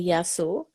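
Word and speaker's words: Γεια σου: Okay, so singular, you say yasu, but what you do is when you speak to people, you do the plural because then you're embracing everybody.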